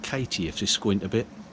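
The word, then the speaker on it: Cati: This is Katie, spelt with a C, C-A-T-I, Katie.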